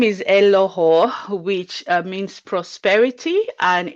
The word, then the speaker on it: Eloho: more about yourself all right my name is elohou which means prosperity and it's from the niger